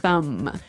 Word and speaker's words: thumb: No, I actually only pronounce the M.